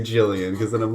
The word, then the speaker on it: Gillian: guess now I well seeing how our band is pronounced Gillian I have to go